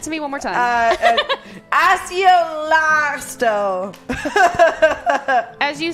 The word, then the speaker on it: Accio: not the hard C, the soft C. Asio, Jesus Christ, that is super fail.